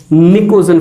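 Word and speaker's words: pnictogen: और दोस्तों इसका एक बड़ा ही फेमस नाम है निकोजन फैमिली, जहां पर पी वर्ड साइलेंट है।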